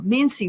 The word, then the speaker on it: Mincey: So, I've got um Mensy with is that how pronounced your last name? Mincy.